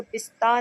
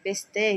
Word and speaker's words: پسته: اچھا آپ دیکھیں جہاں پہ بھی آپ کو آخر میں یہ گول والی ہے نظر آئے گی، اس کا تلفظ بڑی یہ والا ہوگا، یعنی آپ اس کو پستہ نہیں کہہ سکتے، پستے کہیں گے.